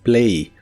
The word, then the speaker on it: play: El verbo jugar en el presente de inglés es play. La A se pronuncia como E y la Y o Y, como la conozcas, se pronuncia como una I suave.